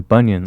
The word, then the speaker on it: Bunyan: And then bunion, Sounds like like that fucking thing on your toes.